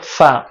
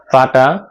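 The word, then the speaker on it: ف: ফাটা সামনের দুটা দাঁত নিচে যে ঠোঁট রয়েছে ঠোঁটের সাথে লাগিয়ে বাতাস বের করে উচ্চারণ করতে হবে। ফা ফা ফা ফা ফা ফা ফা ফা ফা ফা ফা। তারপরের হরফের নাম হলো কফ। কফটা জিহ্বার গোড়া উপরের তালুর সাথে লাগিয়ে তারপর উচ্চারণ করতে হবে।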